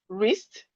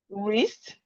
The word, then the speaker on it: wrist: We have right, wrist, wrong, wrap, wrinkle. Right, wrist, wrong, wrap, wrinkle. So all these words, the letter W is silent, and we can see the pattern.